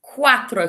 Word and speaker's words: cuatro: similar to cuadrado for cuatro can you hear we've got that quack sound at the start of the word again cuatro cuatro me cuatro